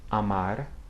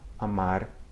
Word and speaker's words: amar: At the end of a word or a syllable, it can have that same sound, a single flap of the tongue. Listen. Amar, cerveja, porta, okay?